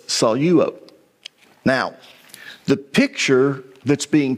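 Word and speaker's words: σαλεύω: people will pronounce this Salo but because there's a dip thong there with Epsilon Epsilon you take the Lambda and you put it with the first syllable okay so it's soluo now the picture that's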